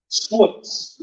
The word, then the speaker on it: SWOOPS: That's SWPS for short, or as we have come to say, SWOOPS, which rhymes with books for no particular reason.